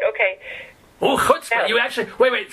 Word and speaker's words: chutzpah: Oh, chutzpah. You actually... Wait. Say that word again, please. Did I say it like I'm from Connecticut? Say it again. Chutzpah. Try the chuh. Chutzpah. There you go.